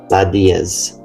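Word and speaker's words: la Déesse: The Citroen DS or as the French pronounced it, Lad Diaz, the goddess.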